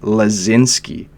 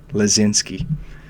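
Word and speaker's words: Laczynski: there's player on the Philadelphia Flyers named Tanner lazinski and easier pronounced than spelled because he has six consonants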